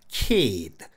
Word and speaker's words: kid: 해야 되나요 절대 아닙니다 사전의 발음기호에 장음 표시 없이 키 이렇게 돼 있어도 여기에 장모의 현상이 적용돼서 kid 이렇게 길게 발음하는 겁니다 근데 이걸 비전문가들이 모릅니다